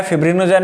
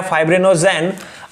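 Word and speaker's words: fibrinogen: एक है हिपैरिन, एक है फिब्रिनोजेन या फाइब्रिनोजेन।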